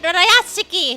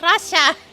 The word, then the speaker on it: Rayashki: She said Rayashki, not Russia. Get it right!